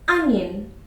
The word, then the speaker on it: onion: Just say it as onion.